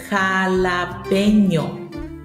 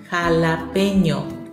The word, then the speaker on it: jalapeño: I've also heard it be a little bit problematic to pronounce, so I'm going to repeat this one for you. Jalapeño. Jalapeño. Jalapeño.